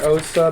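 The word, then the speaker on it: Åsa: is designed by Osa I'm saying OA because it's the a with the circle over it which at least in Norwegian is pronounced o I don't know about Swedish OSAA BTA sure um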